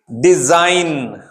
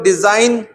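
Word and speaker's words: design: डिजाइन, जी को तो आप बोल ही नहीं रहे हो, आप सीधा बोल रहे हो डिजाइन।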